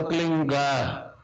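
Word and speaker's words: क्लीं: ही मात्रा और बिंदी, उसका उच्चारण होगा क्लीन गा, गा की ध्वनि निकलेगी पीछे।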